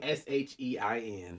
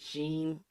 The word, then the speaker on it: SHEIN: I have never even SHEIN. Some people pronounce it Sheen, but they came out on Twitter and said it's pronounced Shein.